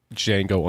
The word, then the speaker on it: Django: D, and he says the D is silent, and he says, "I know." That guy who says "I know" is the original Django.